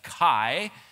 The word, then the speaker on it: chi: chiasm actually comes from the Greek letter that is often pronounced in English as Kai it looks like an